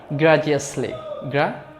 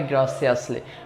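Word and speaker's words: graciously: ওকে, গ্রাজিয়াসলি। গ্রাসিয়াসলি উচ্চারণটা হবে গ্রাসিয়াসলি।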